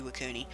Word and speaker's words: Iwakuni: was the ELA Cooney and I think I'm pronouncing that it should be iwakuni it's a beautiful map I love it it's